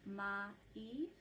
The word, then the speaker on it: mai: So the first syllable is om, and then the second one is bra, and then ma-i, which looks like mai, which is what you say, but I'm slowing it way down.